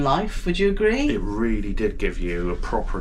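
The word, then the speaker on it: riel: The currency, the Cambodian currency is real. It's spelled R-I-E-L.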